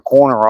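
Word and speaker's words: Koerner: mentioned a YouTube channel called The Corner Office. And I watched a little bit of his stuff yesterday. And it's uh it's spelled k o e r n e r.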